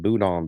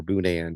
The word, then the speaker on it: boudin: And we need to go to Louisiana, get some boudin balls or boudan, depends on how you would like to pronounce it.